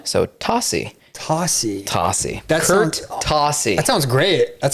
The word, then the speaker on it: Tocci: tochi yeah well yeah Tossy is what I go by technically all right curtasi yep